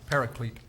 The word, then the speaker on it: paraclete: of civil rights paraclet are there any alternate pronunciations only the one paraclete paraclete are there any